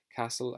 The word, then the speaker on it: castle: of lear castle and watch out for that one because it's got a silent t in it forest married spell nasty beautiful human priest and blessed so let's go through those words castle i think you guys